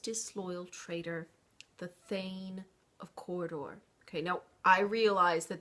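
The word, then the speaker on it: Cawdor: by that most disloyal traitor the Thane of corridor okay now I realize that that name is is spelled c-a-w-d-o-r but we're not going to show our Kentucky here and pronounce that cowder okay it's not cowder it's Corridor doesn't that sound more elegant anyway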